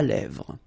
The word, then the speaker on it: lèvres: Un crayon à lèvres. Un rouge à lèvres. Same thing here, final S not pronounced, and then this E accent grave here, it gives you the E, really open sound.